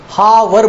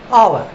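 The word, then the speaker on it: hour: हम होटल बोलते हैं, हावर बोलते हैं, हा की ध्वनि है, पर यह बोला नहीं जाता, इनका प्रोनाउंस किया जाता है आवर, ऑनर, ऑनेस्ट, होटल।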